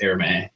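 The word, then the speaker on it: Hermès: obviously those'll sell well h e r mes I'm pretty sure you it's pronounced airme uh those always sell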